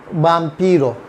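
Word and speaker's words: vampiro: इधर बाम्पीरो, बाम्पीरो, बाम्पीरो क्या है, वैम्पायर। अब देखें कितना आसान है, वैम्पायर को बाम्पीरो कर दिया, थोड़ा सा प्रोनाउंसिएशन डिफरेंट कर दिया, थोड़ी सी स्पेलिंग डिफरेंट कर दी, बाम्पीरो।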